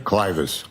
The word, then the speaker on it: clivus: Were you a presenter in fractures of the clevis clinical and radiographic features? Yes. Am I pronouncing that correctly? Clus.